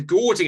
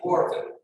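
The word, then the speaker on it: Gårding: sesquilinear form satisfies a Gaudian inequality or Guardian inequality. What's the pronunciation? Guardian inequality, I think. Gordon. Okay. Yeah, it's because it's an A with an Say again. Yeah, it's Gordon. Gordon is Norwegian.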